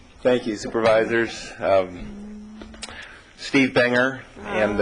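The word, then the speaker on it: Bunger: to ventur County thank you very much Steve Brer and I apolog olizee if I got your name wrong wouldn't be the first time oh well the handwriting thank you supervisors um Steve Banger and U that's okay it took me about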